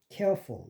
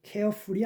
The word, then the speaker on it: careful: central, actual, social 다하게 액센트가 없기 때문에 슈어가 되고 syllable, possible, careful 이것도 careful이 아닙니다. careful 그러면 이거 정확한 발음이 안 돼요. careful. 왜냐하면 이게 슈어하기 때문에 U를 우로 발음하면 안 되고 어로 발음돼.